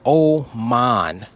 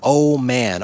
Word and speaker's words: Oman: I was in a country called Oman, spelled like oh man. O m an Oman.